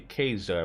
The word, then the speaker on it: Caesar: don't know any Caesar well technically speaking the pr proper pronunciation would be kaser but in game they call her Caesar what who Cesar I